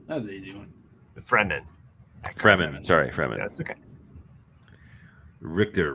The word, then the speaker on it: Fremen: Eckhart Freeman. That was an easy one. Fremen.